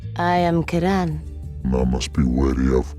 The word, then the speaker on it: Ciaran: This ring belonged to the Lord's Blade Kiran or Kiran, which as it turns out is how her name is pronounced according to cut content. I am Kiran.